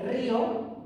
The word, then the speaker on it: río: Pensad que en castellano no es lo mismo esto que esto. Esto no lleva tilde, río, del verbo reír. No lleva tilde. Como no lleva tilde, frío, del verbo freír. Pero si lleva tilde, río, y si lleva tilde, frío. Porque si no sonaría río y frío.